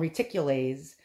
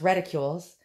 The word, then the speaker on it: reticules: as uh reticules i used to call them reticulaes but uh it's pronounced ridicules and uh that's a bad word for a